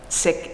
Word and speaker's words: Sikh: Sikh is the name of the religious and cultural tradition that she's a part of, sometimes pronounced Sikh, but Sikh is correct.